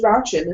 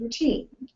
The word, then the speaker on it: routine: So, until she was corrected, it was Rauchin instead of routine. Tatatita instead of taffeta.